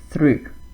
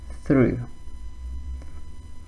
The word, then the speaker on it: through: How do we pronounce this? Through. I hope you got it correct. Through.